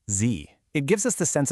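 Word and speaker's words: 自: The very first character is pronounced Z.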